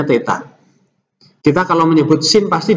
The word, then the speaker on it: theta: Ini bacanya theta.